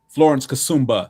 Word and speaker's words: Florence Kasumba: From um Wait, how do you pronounce her name? James Florence Cassumba, I believe. Okay. Kassuma. Florence Kasumba, excuse me.